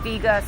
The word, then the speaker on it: Vega: Vega one brand and there's Vega one and Vega sport so what would be the difference yes so um it's actually pronounced Vega oh know um so the difference